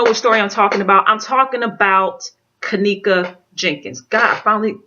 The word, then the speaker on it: Kenneka: And if you guys don't know what story I'm talking about Kenneka Jenkin.